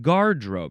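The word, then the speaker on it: garderobe: garden variety guardrobe guardiloo at guardrobe you have to emphasize the first syllable guardrobe um guardilu gareth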